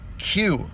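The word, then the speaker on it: queue: Q ready to go, it's spelled Q U E U E when really all you have to do is just put the letter Q. All those other letters are all silent.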